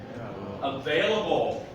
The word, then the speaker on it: available: Available. Okay, so I'm gonna pronounce it for us. Available. Available. How many syllables? 4, right? The V sound is going to be the strong one.